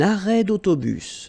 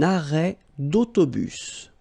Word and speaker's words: arrêt d'autobus: Un arrêt d'autobus. So you can hear this little link between the two. Un arrêt d'autobus.